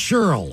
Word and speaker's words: Shirley: All of y'all want to wish my big sis Shirley, pronounced Cheryl, a happy double nickel birthday.